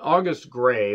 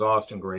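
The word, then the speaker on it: August Grey: then we get um august gray and i thought it was austin gray and i feel bad for mispronouncing that he gets attacked by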